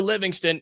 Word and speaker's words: Livingstone: And look, Parker Livingston, and that is how you pronounce it, by the way, he is leaving Texas.